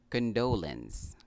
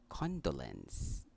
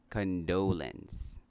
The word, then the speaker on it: condolence: Kadalasan nating sinasabi, condolence. The correct pronunciation of this word is condolence. Again, condolence.